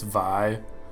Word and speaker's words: Vi: punch and i know i had to pronounce her name wrong to make that joke and according to riot it's vi but until i made this video i've been saying her name wrong for years you wouldn't believe how